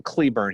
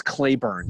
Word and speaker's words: Cleburne: curious i know it's clay burn so get off my back binger apparently it's pronounced clay born in the south oh okay here we